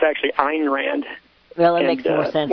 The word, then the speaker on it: Ayn Rand: It's Ayn Rand, not Anne Rand. I know that's common. People, call her Anne Rand, but it's actually Ayn Rand.